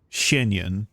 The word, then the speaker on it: Xianyun: Xianyun.